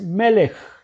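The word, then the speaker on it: מלך: y la caso fin este es un tema que es mudo no se pronuncia entonces la pronunciación es melek que es rey tenemos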